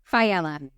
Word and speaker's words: Faella: Faella. Yeah. Faella, but no one... That was awesome. Yeah, no one pronounces my name correctly, so I'll never hold it against you.